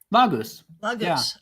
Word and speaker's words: Laguz: Okay, let me make sure I'm pronouncing this correctly. Is it Laguz? Laguz.